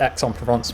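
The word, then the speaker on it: Aix-en-Provence: um uh correct yeah that's pronounced x on provence but i'm thinking of the right thing yeah exxon provence that's where khali song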